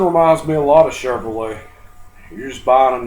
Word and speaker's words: Chevrolet: Well, what a lot of you guys don't know is the word Chevrolet is French. Lay in English is spelled L-A-Y, not L-E-T. So Chevrolet.